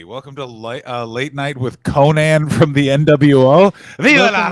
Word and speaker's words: Konnan: By the way, I pronounce Konnan the wrestler the same as Conan O'Brien.